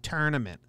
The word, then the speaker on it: tournament: every oh they say tournament tournament well how you spell i say tour it's not t-u-r-n a mint it's t-o-u-r tournament not tournament so i refuse to lose